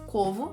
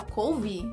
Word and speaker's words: Covo: Às vezes eu pronuncio o meu sobrenome em português, Covo, e o pessoal fala couve? Hã? Corvo?